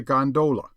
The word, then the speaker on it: gondola: A flatcar, by the way, is known amongst the fraternity as a gondola, with the second syllable emphasized and pronounced long.